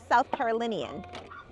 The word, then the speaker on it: South Carolinian: Um, if that helps, similar to the sound when you say linen. Oh, so South Carolinian.